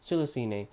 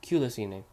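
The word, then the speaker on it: Culicinae: to one common ancestor cilicinae dating back to about 79 million years another pronunciation for the word is culisine lastly i would like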